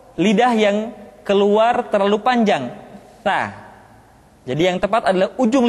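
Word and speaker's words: ث: mutnimati tantanita berikutnya huruf Tsa ta dikeluarkan dengan menyentuhkan ujung lidah kita dengan dinding dua gigi seri bagian atas diucapkan dengan suara dan nafas yang terdengar mengalir tsa t tu b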